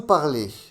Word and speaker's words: parlez: Vous parlez. La combinaison EZ se prononce et. Vous parlez.